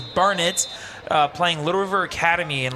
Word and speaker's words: Burnet: A lot of people say Burnett because of how it is spelled. It is Burnett playing Little River Academy and leading 36-7 in the second quarter.